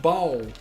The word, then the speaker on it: Bolle: It is Bolle, right? No, it's pronounced bowl.